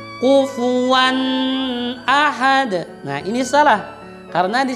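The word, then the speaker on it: أَحَد: yang sering terjadi, yaitu ketika menyebut ahad, ahad, dia menghilangkan bunyi a-nya. Kenapa? Karena sudah terbawa dengan wan tadi. Maka dibacanya begini. Dengarkan dengan seksama, ini banyak terjadi kesalahan. Kufuwan ahad, kufuwan ahad, kufuwan ahad. Dia membacanya menjadi tashil. Nah ini salah. Ingat, itu huruf a, tidak tashil. Bacaan yang benar adalah kufuwan ahad. Tidak boleh huruf a-nya atau fathahnya tadi ditashil, disamarkan, tidak boleh.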